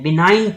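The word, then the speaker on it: benign: ठीक है बिना ने इसकी स्पेलिंग आप देख लें बी एन आई जी एन बिनाइन टयूमर इसको मैं कहूंगा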